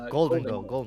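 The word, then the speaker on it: Gholdengo: Apparently, the official pronunciation is Golden Gold.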